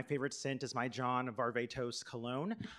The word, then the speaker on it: Varvatos: scent is my John Varvatos cologne I learned the other day that it could actually be pronounced John Barba toss so take that take